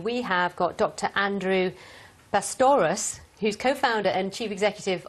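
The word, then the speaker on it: Bastawrous: I'm obsessed with the dinosaur pronunciation. Do you say it right, please? Andrew... Pastoros. Pastoros.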